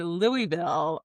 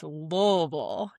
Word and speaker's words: Louisville: So when I heard you say Louisville, I gotta correct you, my guy. It's Louisville. You gotta say it like you got some marbles in your mouth.